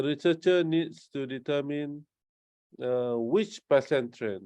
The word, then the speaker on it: Pesantren: Am I pronouncing correct? Pasantren is a religious institutions, right? Boarding school. Religious Islamic boarding school. Yeah, religious Islamic boarding school. Pesantren.